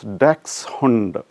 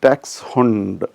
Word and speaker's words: Dachshund: So when I say Dachshund, probably it may not sound very familiar to you. So at the same time, if I say dachshund, everybody will understand the word. Usually we say dachshund, dash, etc.